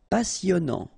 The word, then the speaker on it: passionnant: Okay, here you pronounce the double S because you've got a vowel, so it's really a strong one. Passionnant. Final T not pronounced. And then here you get this en sound.